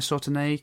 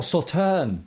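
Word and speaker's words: Sauternes: so they finished it in a sautenay cask is that french wine if have i pronounced that correct oh saturn yes yeah okay yeah got it got it there we go thank god okay awesome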